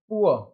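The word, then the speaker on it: poor: पुअर, क्या आया, पुअर। यहाँ पर डबल ओ आर, आर का तो प्रोनाउंसिएशन लास्ट में करना ही नहीं है, यहाँ पर आ जाएगा प, पू और अ, पुअर।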